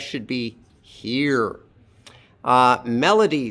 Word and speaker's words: Melody: Melody, 3 syllables. L is in the middle and it's unstressed. Melody. Like that.